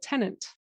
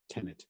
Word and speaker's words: Tenet: And that was both from the podcast about Tenant. Tenet.